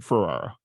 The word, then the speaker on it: Ferrara: And everybody Yeah, consensus was like Ferrara. I get Ferrara all the time, or like I'm like just Ferrari with an A, like Yeah, it's not hard.